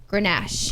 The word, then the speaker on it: Grenache: how you pronounce this word here. Grenache.